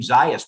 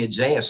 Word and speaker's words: Zayas: ask Mr zayas uh I've been pronouncing your name zias but he's pronouncing isaiahs and I want to get it right which one is it you you were right the first time your honor is is